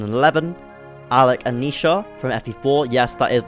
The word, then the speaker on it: Naoise: These pairings include, but are not limited to, Cain and Abel from FEs 1 and 11, Alec and Nisha from FE4, yes that is the correct pronunciation, Alan and Lance from FE6, and Oscar and Kieran in FE9.